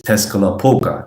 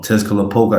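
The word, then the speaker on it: Tezcatlipoca: That's not the correct way to say it. I'm just saying it for, you know, I mean, for our purpose, right? Um, Tesca Poga, that's the English way to pronounce it.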